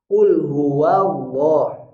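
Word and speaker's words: قل هو الله: hurufnya terutama huruf waunya jangan wo Tapi wa Qul huwallah lamnya yang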